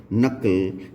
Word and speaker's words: knuckle: इसके अलावा एक बहुत इम्पॉर्टेंट और बहुत ही कॉमन वर्ड है नकल, KNUCKLE।